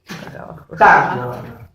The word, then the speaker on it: tango: ¿Cuál es el acento fuerte? Tan. ¿Sí? Vayan colocando ahí los acentos arriba porque no lo pude poner yo. Tango. Así es correctamente cómo se pronuncia tango fonológicamente.